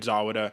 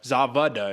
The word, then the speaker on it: Zawada: very incredible win over david zawada zavada excuse me i just found out that's how you pronounce the german names the w's or b's so zavida david zavida